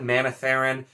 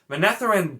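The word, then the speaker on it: Manetheren: one very minor uh with monetheren i always said manitharin monetheren does sound more correct to me and so that's one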